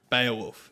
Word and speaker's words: Beowulf: It's pronounced Beowulf, Dave.